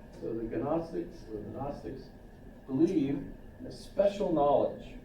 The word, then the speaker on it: Gnostic: So a Gnostic, and there's a, how do you pronounce it? Good. Leave it out and just say Gnostic, right? So the Gnostics, or the Gnostics, believe in a special